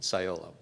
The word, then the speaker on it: Cyolo: first questions we get is how do you pronounce it at sciolo um and quite frankly quite uh succinctly what